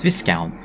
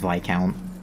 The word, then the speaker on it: Viscount: pronounced by count as Viscount I knew it was pronounced by count is if I count I think it's my count yeah I knew the S was like silent or whatever but just